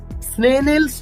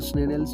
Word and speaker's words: Snellen: সেই চার্টটিকে আমরা বলি স্নেনেলস চার্ট। ওকে স্যার একটু বানানটা একটু বলবেন, স্নেনেল বানানটা?